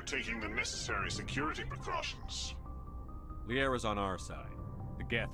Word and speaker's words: Liara: that really necessary Shephard why did Shephard pronounce her name as liera it's Liara the hell the GU